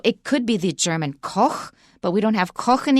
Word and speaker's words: Koch: it sound weird and there are some very famous industrialists in the u.s called the koch brothers and they spell it that way koch they pronounce it coke but there is a